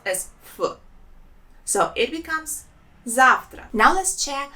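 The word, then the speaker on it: завтра: russian language sounds Zafra zavtra there are two syllables in this word and the stress is on the first letter I Zahra and here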